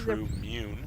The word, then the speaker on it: True Mune: I believe True Mune. Mune. Is that how you say it? Not a moon. Mune. True Mune. Oh, like anyway. the immune system.